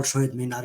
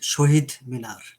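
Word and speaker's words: শহীদ মিনার: So what we call Shohid Minar in our language. Sorry, how do you say that? In our language, we call it Shohid Minar.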